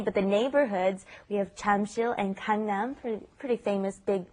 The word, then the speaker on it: Jamsil: Notice it's not spelled Jamsil, it's Jamsil is the spelling, but the pronunciation, of course, is right in between that J and that CH, isn't it?